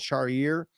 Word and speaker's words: Charrier: It's Charrier.